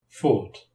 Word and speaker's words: fought: In the past simple, GH is silent.